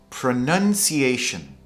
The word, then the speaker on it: pronunciation: Now this one is ironic. Pronunciation.